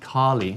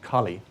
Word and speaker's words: Kali: kali not kali sorry it's not kali it's actually just kali it's not not a long a it's not the god uh kali it's a different word